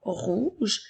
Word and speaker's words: rouge: Alors, commençons par la couleur rouge qui s'écrit R, O-U qui fait le son OU, G qui fait le son J et la lettre E pour faire rouge.